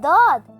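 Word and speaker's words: ضاد: My sound looks similar to dal, but it's not. DAWD sound is heavier and thick. DAWD, DAWD, DAWD, DAWD.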